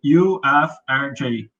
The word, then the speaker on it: UFRJ: How do I pronounce the name? Oh, UFRJ, UFRJ.